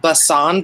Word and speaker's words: Bacon: The company is called Basan, but it's spelled bacon, which I love.